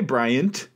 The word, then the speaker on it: Bryant: Oh, hey, Bryant. It's almost three syllables because you have to work to get that T in there.